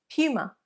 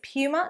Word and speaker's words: Puma: another popular sports brand Puma Puma now the pronunciation is Puma not Puma although Americans often say Puma which is actually how they say the name of the animal so technically not incorrect